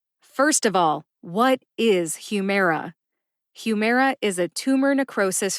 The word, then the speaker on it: Humira: Humera has three syllables Hue like human mare like a female horse and uh like the a in adoption uh Humera Humera now the second syllable